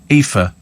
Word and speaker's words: Aoife: Aoife. It's Irish. Like me, says Joe. It's pronounced... What did we say? Aoife. We said Aoife. We said Aoife as well.